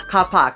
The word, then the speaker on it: car park: Hindi lang yun, pati sa mga pronunciation, like yung card or car park. Hindi nila maintindihan kapag sinabi mong card, car park. They pronounce it as cart. Car park. Kasi nagmamadali. Kapak.